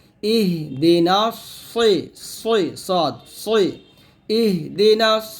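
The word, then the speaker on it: اهدنا: সিরাতাল বলি, সদকে সিন উচ্চারণ করি, তকে তা উচ্চারণ করি, এই যে বড় ভুলগুলা, এই ভুলগুলো করলে কিন্তু আপনার নামাজ হবে না। তো ইহদিনা সিরাতাল মুস্তাকিম এরকম পড়তে হবে।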